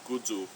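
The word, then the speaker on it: kudzu: United States called uh kadu or pronounced in Japanese which is where it's from kudu uh which doesn't doesn't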